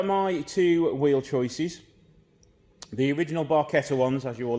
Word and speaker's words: barchetta: another episode with the barqueta yes that's how you're supposed to say I've been saying it wrong for about 20 odd years but let's ignore